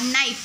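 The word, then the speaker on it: knife: उसके बाद नाइफ, नाइफ में के साइलेंट हो जाएगा।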